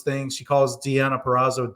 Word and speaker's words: Deonna: And like just the way she pronounces things, she calls Deonna Purrazzo Donna Purrazzo.